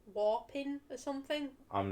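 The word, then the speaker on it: Wapping: What does whapping mean? It's not called whapping, but that's what it's spelt like. Oh, what are you talking about? It's a place down south. Oh. I think it's called like Warping or something.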